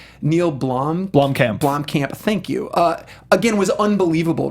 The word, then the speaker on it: Blomkamp: I butchered his name. Neil Blomkamp.